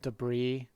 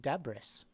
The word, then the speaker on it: debris: debris you know but you think it's just deborah's right it's oh yeah like that's how it's spelled but then nobody ever says deborah's in real life and you're like oh